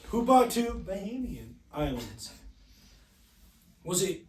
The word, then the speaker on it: Bahamian: Who bought 2 Bahamian islands? Bohemian?